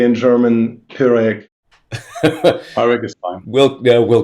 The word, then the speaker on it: Pyreg: that I have been mispronouncing this if you pronounce it in English you would say pyreg but we say in German peric Iraq is fine we'll we'll go with pure